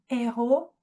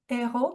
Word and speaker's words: héros: Il y a aussi des mots qui ne se prononcent pas de la même manière comme héros et euro. Voilà. De plus, le mot héros commence avec le H aspiré. Pour ça, on ne dit pas de l'héros, on dit du héros.